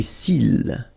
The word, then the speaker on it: cils: Les cils. Final S not pronounced.